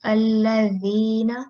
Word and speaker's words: الذين: This should be like alladhina. So it's like the tip of your tongue when it touches your upper front part of your upper teeth. So that's how you pronounce it.